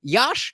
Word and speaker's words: Yash: We will call him Yash, not Josh.